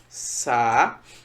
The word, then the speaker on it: saúde: Sa-u-d. Veja que eu tive um hiato. O A e o U formam um hiato. E nesse hiato, um dos elementos do hiato é a sílaba tônica, que é justamente um U.